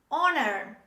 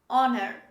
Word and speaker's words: honor: the next example honor honor so the first letter in this word let's age is dropped when we say this word this is honor say with me honor the next example this